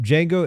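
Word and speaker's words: Django: of lead code uh D Jango is jeno Jango D is silent that's really funny like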